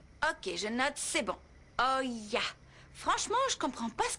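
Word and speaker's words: Hoya: C'est Calderon avec un accent sur le O et de la Oya. Ça s'écrit H-O-Y-A. Ok, je note, c'est bon. Oya.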